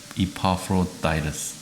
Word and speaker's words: Epaphroditus: 이파프로디토 발음이 어떤가? First about Timothy, then about Epaphroditus. 이파프로다이러스입니다. 이파프로다이러스. 이파프로다이러스. 영어는 참 대단한 것 같아요. 그리스 말로는 아마 이파프로디투스 일 건데 에파프로다이러스네요.